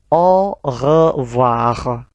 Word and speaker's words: au revoir: AU dibaca O, OI dibaca OA. Berarti au revoir. Au revoir.